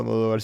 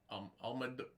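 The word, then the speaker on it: Almodóvar: Did you see what Pedro Almodovar said about Marvel?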